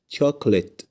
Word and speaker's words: chocolate: الحروف المكتوبه باللون الاحمر اول كلمه عندنا اسمها تكليت تكلت الكلمه التانيه اسمها زس زس زس زنس جرب تنطق الكلمه التالته كده لوحدك وشوف ه تنطقها